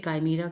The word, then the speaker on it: chimera: यहाँ पे chimera का pronunciation दिया हुआ है, देखिए chimera, ठीक है, स्पेलिंग इसकी ये है लेकिन ये है pronunciation।